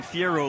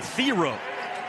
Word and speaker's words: Thiero: I called him Thiero the last couple of years in Kentucky because that's what his name was.